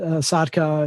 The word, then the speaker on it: Sotka: can just look up my name it's spelled like connory um and then sadka is is really a finished name that's fun